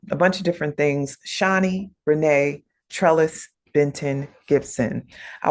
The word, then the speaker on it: Shawnee: My name is Shawnee, not Shawnee. I'm Shawnee, Reneé Trellis Benton Gibson.